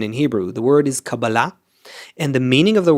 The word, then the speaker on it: Kabbalah: to Hollywood I think people learned how to mispronounce it. They think it's called cabala. There's no such thing as kabala. It's just uh wrong pronunciation in Hebrew. The word is cababala and the meaning of the word is reception.